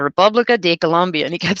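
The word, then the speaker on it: República de Colombia: kept making me repeat he was not colombia it's the republic this is the republica de colombia and he kept saying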